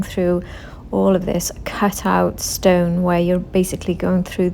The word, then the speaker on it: Ston: a place called Stone I think it's pronounced Stone rather than Stone there's no e on the end and this is just